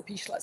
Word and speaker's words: Pichler: So those two letters and then Pichler is p i c h l e r Pichler. No, there's no s. It's just the German pronunciation.